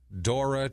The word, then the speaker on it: Dora: Better known as Mickey Dora. Okay. Mickey Dora. He's a surfer. D-O-R-A? D-O-R-A, like the explorer.